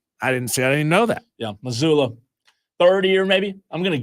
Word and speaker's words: Mazzulla: The guy who has a hard name to pronounce. Oh, Joe Mazzulla? Mazzulla. I didn't know that. Yeah, Mazzulla.